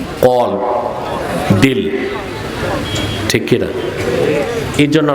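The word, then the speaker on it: قلب: অনেক বক্তাকেও শুনছি উচ্চারণটা ঠিক করে না, বলে কালব। কালব অর্থ কুত্তা, আর কলব অর্থ।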